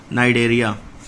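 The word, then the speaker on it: Cnidaria: of this name इ इट is called as द नाइडर यहां पे सी साइलेंट है सभी में नाइड साइट्स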